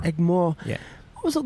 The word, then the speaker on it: Egmore: Chennai, I grew up in Egmore.